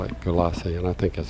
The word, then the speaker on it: Gulyassy: Galassi. All right. It's an unusual name. I've never seen it before. Apparently you don't pronounce that Y.